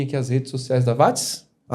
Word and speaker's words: Watts: VATS se escreve com 2 T's. Isso. E não é Z. É S. Tá WATTS. E não é Watts de WhatsApp, é VATS.